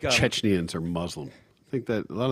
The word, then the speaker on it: Chechnya: And it's pronounced Chechnya.